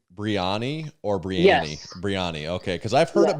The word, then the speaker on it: Brianny: Our first question we have to clarify this is uh do you pronounce your name Breanna or Breanna? Breanna, okay.